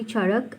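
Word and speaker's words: Charaka: आपकी बुक में चरक दिया हुआ है, लेकिन that is एन S miss pronunciation. It is actually चरक and Sushruta Samhita.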